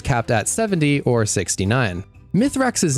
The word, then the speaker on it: Mithrax: Mithrax's name is actually pronounced as Mithrax when spoken in Elixni.